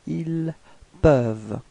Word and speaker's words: ils peuvent: Okay, for il au pluriel, then you get ils peuvent. Repeat. Ils peuvent. Okay, so as usual you've got this ENT at the end, but then you don't pronounce it. You only pronounce ils peuvent.